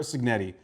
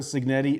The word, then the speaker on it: Cignetti: As a matter of fact, Indiana head coach, Kurt Cignetti, and I'm sorry if I butchered that. Kurt Sig, sorry, Kurt Signetti. Sorry, I got the I Googled him as he once said, and it is in fact Curt Signetti, and he is also in fact a winner.